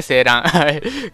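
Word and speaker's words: 晴嵐: と読みましたね、セーランコメントでありが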